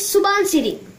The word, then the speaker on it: Subansiri: So it has the name rhyming with Dhansiri, that is Subansiri.